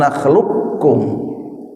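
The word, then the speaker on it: نخلقكم: tapi berdekatan sehingga nanti kalau ada lafaz qof mati ketemu kaf misalnya alam nakhluq kum nakhluqkum itu qof-nya tidak dipantulkan karena diidghamkan ke kaf ya. Jadi menjadi alam naklukkum.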